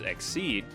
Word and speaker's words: XYZ: XYZ monsters, pronounced Exceed, can be summoned by